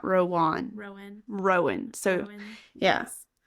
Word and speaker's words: Rowan: It is Rowan is how you say his name, not Rowan.